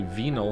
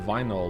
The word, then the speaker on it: vinyl: I don't know why I say venyl instead of vinyl like you do. Um is there some parts of the world that pronounce vinyl like vinyl? Vinyl is correct, right?